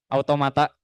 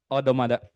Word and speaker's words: automata: Nah, waktu itu aku juga lagi belajar materi ini automata. Ya sebenarnya di pronounce-nya bukan automata sih, tapi kalau mau lebih Inggris mah odomada gitu. Based on true story ya.